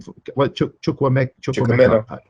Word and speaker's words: Chukwuemeka: Chukwuemeka.